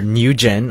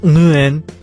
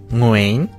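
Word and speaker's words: Nguyễn: it to be say when actually it's pronounced Muin all I know is it's got to come from your uvula you know that punching bag thing at the back of your mouth mooing apparently that's the southern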